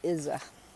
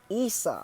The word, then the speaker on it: Isa: too there it is it's called izza okay isa sorry that's how it's pronounced isa ice ice status frozen